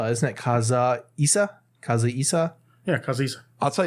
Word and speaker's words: Kazuhisa: All right, so did you hear that Kazuhisa Hashimoto Shit.